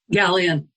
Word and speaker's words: Galijan: um I will uh do my best at pronunciation Linda is it gallian is that how am I saying your name correctly gallan gallan okay thank you um Linda was ordained